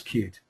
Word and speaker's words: cut-e: came up with the the name spelled c hyen e but we do pronounce ourselves as cute so to get things